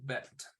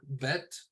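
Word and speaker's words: בית: here in a second the next letter is uh called bet or it can be pronounced baked that's another thing you'll find that even though we're using the Sephardic there's little differences uh of pronunciation uh different consensuses on how things are pronounced uh vet is what you'll usually hear it called sometimes you'll hear it called bait um so bet looks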